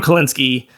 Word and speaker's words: Kalinske: Yeah, Tom Kalinske.